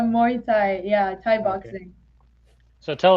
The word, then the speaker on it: Muay Thai: i saw that you're maui thai how do you say that instructor what tell us about that a muay thai yeah thai boxing so